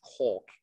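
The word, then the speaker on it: קול: The Hebrew word is kol, Q-O-L, that's how we spell it in English, kol.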